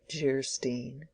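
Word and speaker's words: Geierstein: offering it for sale Anne of gyrostein pronounced jerstein or the maiden of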